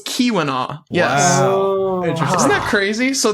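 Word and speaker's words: Keweenaw: And the double E is pronounced as an E. So, it's Kiwina. So, it's Kiwina.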